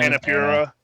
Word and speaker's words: Annapurna: Annapurna.